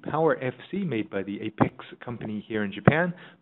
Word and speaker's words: Apexi: FC made by the Apex company here in Japan, pronounced Apex in Japanese, known as Apex or Apexi or Apexi I.